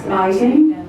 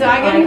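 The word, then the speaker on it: Igan: Max Eigen. Oh, Max Egan. It's Egan. I've been saying it wrong all the I'm not necessarily on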